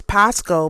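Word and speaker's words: πάσχω: verb um which is Pasco P A S C H O that's how it's pronounced or that's how it's said in Greek.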